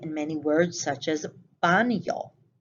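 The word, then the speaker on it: baño: many words such as banyo notice i didn't say bano i said yo as though there is a y after the n that is the word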